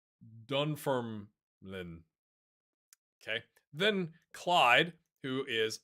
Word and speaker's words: Dunfermline: Dunfermline. Dunfermline.